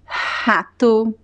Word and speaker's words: rato: But at the beginning of words, it is important to make the correct, the most common pronunciation, which is the H sound, like rato, o rato roeu a roupa do rei de Roma.